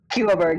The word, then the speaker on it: Skuaberg: Skuaberg is how I pronounce it. It's like, there's like a U.